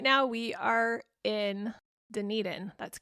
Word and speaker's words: Dunedin: And right now we are in Dunedin.